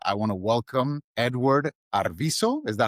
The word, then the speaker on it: Arvizo: we're starting and I want to welcome Edward Arviso. Is that how you pronounce the last name?